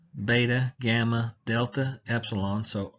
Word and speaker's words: beta: And then beta has a hard B sound like we have in the word ball or baptism.